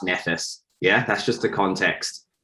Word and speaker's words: Nephthys: married to someone called it's spelt nephthys but i think it's pronounced nephes yeah that's just the